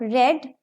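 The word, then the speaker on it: read: Third form of verb रेड, रीड, रेड, रेड spelling same होते हैं लेकिन pronunciation का डिफरेंस है। रीड first form, रेड रेड second और थर्ड फॉर्म।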